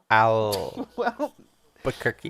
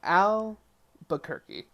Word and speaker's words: Albuquerque: I mean, Albuquerque is a little bit hard to say, I guess. Albuquerque. Now we know. Albuquerque. So, if you're wondering where we go from here and how to say it, it's Albuquerque. Albuquerque.